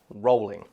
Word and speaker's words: Rowling: pronounced it is pronounced Rowling and we know this because JK Rowling herself gone on record as saying multiple interviews pronounce my name as if you're saying the word rolling I'm not really gonna